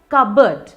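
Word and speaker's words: cupboard: तो वर्ड है कबर्ड, कबर्ड।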